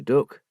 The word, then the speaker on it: duck: You're doing a good job, me duck." Christie liked the Lincolnshire way of calling everyone duck, pronounced to rhyme with book.